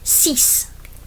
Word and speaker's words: six: Six it looks like our English. Six ce.